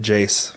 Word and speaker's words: JAYC: No, she pronounced it Jace Foundation.